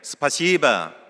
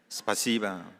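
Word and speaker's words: Спасибо: 스파시바 감사합니다. 발음을 잘해야 됩니다. 시바 이렇게 하면 안 되고 스파시바 아 그 아멘이란 말이에요.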